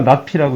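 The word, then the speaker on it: ~P: 읽을 때는 아니니까 나피라고 읽으면 돼.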